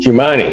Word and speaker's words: Jumani: Jumani, is that how I should pronounce it? Yes, sir.